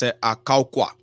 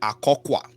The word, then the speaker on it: Akokwa: They said it's pronounced as Akaukwa. So Akaukwa. Some said they say Akokwa.